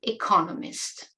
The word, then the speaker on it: economist: difference in pronun iation word stress economics and Economist so these words also